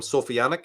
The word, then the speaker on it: Sophianic: So that's and just for convenience, I call them Sophianic because it rhymes with satanic, and Sophic because it means wisdom.